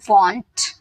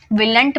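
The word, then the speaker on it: won't: Will not को वॉन्ट बोलते हैं, ठीक है। विलंट मत बोलिएगा, वॉन्ट, will not, वॉन्ट, okay.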